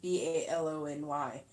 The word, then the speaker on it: bologna: You mean bologna. BALONY. Bologna and a red skin. You take the skin off. Same one. Yes. Yes. But here we spell it BOLOGNA. Yeah, the way you spelt it is how bologna is spelt in America.